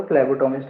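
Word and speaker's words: phlebotomist: फ्लैबोटोमिस्ट, फ्लैबोटोमिस्ट इसका प्रोनाउंसिएशन जो है कुछ कुछ बुकों में अलग अलग तरीके का मिलेगा, पर फ्लैबोटोमिस्ट ही बोलते हैं।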